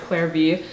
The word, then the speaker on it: Clare V.: The next thing is this tote bag from, I think it's, the brand's pronounced like Clare V.